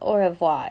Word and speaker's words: au revoir: you say oh oh it's not au revoir it's you don't pronounce the r it's like oh you